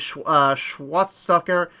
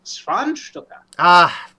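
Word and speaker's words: Schwanzstucker: We end with the monster having found a wife, and Froderick, now married Inga, with his Schwarzstocker having been enhanced by the procedure. It's pronounced Schwanstucker.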